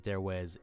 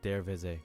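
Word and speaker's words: Darvaza: Starting at number 5, the door to hell, also known as Derwe's gas crater, or pronounced properly Derweze gas crater.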